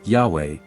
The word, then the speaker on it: Yahweh: However, the pronunciation of Yahweh is the most accepted form of pronunciation of God's name in Hebrew today.